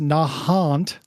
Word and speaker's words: Nahant: is pronounced Quincy uh Nahant is pronounced Nahant the same picture n